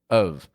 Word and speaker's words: of: It gets a schwa. That's like this, real quick, quiet, weak sound, And the F on the ending doesn't actually sound like an F. It sounds like a V. Of. Pronouncing O-F as of, allows you to keep